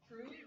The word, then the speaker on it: Cru: As Pastor said, we are with Cru, Campus Crusade for Christ, as now known as Cru in the U.S. So that's a lot simpler to say, just one syllable, Cru.